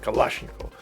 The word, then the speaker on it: Kalashnikov: I This is how we pronounce it, Kalashnikov.